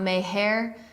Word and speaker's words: Maher: It's not Maher, it's not Maher, it's not Maher, it's just Maher. So I don't know how I didn't remember that of watching the episode one time, but Bill Maher has, it's a funny show.